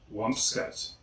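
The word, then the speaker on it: :wumpscut:: This is actually the band name I have seen mispronounced more than any other. Next we have Wumpscut. Wumpscut.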